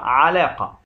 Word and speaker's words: علاقة: النطق الصحيح للكلمة هو علاقة بفتح العين.